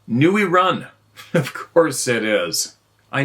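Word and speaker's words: người rừng: Vietnam Vietnamese out good luck n rung is pronounced NE run of course it is I knew it Nee run it translates Forest man jungl man the terms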